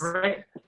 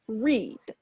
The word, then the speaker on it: read: red, right? So don't ask me why, but this one's a really special one in past tense. So in present, it's read. In past, same spelling, different sound, read.